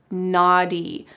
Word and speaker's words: naughty: But in American English, we would say naughty, naughty.